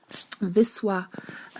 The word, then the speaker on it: Wisła: so when you see Viswa then it has W as the first one so V and then it has that line L a letter with the slash and it's pronounced as W in English that's the whole thing